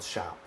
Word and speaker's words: champ: And then that's called that by the way is called shop. Shop? Shop. It's spelled like champ. That's shop.